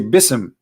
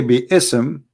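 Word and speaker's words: بسم: say you see here you don't say bsm no more here they say bism so it's not an error scribe it's an error in a pronunciation are you getting my point because they are not saying when they recite the quran they don't say be ism and it's written wrong no they they recited bism and i will tell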